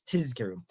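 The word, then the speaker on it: תזכרו: So there's halachic basis that Mishnah Berurah quotes that one should emphasize the Zion, that it's Tizkiru.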